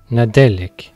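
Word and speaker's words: Nadelik: Mais par contre, aujourd'hui, j'ai la chance d'avoir un invité de premier choix qui va nous donner la prononciation galloise de Noël. Nadolig. Et cela donnera Nadelec.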